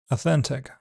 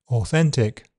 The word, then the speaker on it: authentic: The word actually sounds slightly different in American English, starting on a schwa, authentic, whereas in British, it's with or, authentic, though which pronunciation is the authentic one remains to be seen.